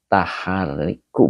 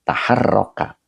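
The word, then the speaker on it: تحرّك: Tahariku bukan tahariku, taharroka. Nah, ini fi'il madi dibacanya ya, bukan fi'il mudhari.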